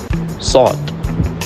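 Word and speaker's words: صاد: It makes kind of an S sound but it doesn't really have an exact match in English. To pronounce sawt correctly, the tip of the tongue must press against the palate towards the front teeth. It is a heavy and full letter that uses the entire mouth to pronounce.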